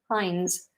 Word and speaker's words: Heinz: Is it Heinz with an S on the end? Or is it just Heinz with a Z? Heinz.